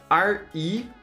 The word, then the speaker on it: Regolith: It's spelled R-E-G-O-L-I-T-H, Regolith.